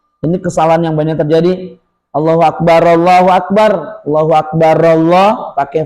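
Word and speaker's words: الله أكبر: ya Ramadan Idul Fitri bunyinya enggak boleh Allahu Akbar, Allahu Akbar Allahu Akbar. Salah. Harusnya Allahu Akbar. Allahu Akbar. Allahu Akbar. Lailahaillallah. Allahu Akbar. Pokoknya ee jeda nafasnya harus jelas kalau mau disambung.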